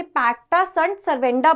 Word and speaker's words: pacta sunt servanda: ध्यान रखना है कि इसे पैक्टा सं सर्वेंडा प्रोनाउंस करते हैं ठीक है और यह